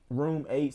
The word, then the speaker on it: RM8: Room 8, so RM8, the number 8. Room 8. Like Room 8, but they spell it RM8.